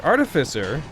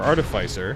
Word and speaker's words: artificer: the upsetting thing about the artificer or artificer if you want to say it wrong um is the fact